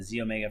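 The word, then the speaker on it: xEO Mega: in on the the z omega first uh the x and even though it's pronounced z it is an x it stands for um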